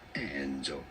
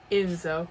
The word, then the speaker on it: Enzo: pronouncing it in Italy in Italian it is Enzo you don't want to Enzo okay dang I don't